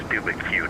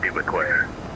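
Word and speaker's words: Dubuque: And the official pronunciation, if you're going to mock it, is Dubicue, not Dubique.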